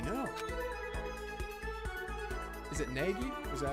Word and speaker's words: Naegi: Is it Nagi? Is that how you pronounce it? Naegi.